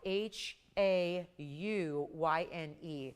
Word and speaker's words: hauyne: And that hauyne, just amazing stone. Yes, that is the proper pronunciation. It is spelled h a u y n e.